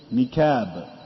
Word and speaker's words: niqab: And like some of the people, they say niqab. Niqab. My wife wears a niqab instead of niqab, because of the difference between the qaf and the kaf.